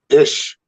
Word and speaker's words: Eash: mr mr ish yes you pronounced it right you pronounced it right oh my gosh nobody everybody gets it wrong it's pronounced as if it was spelled ish and you nailed it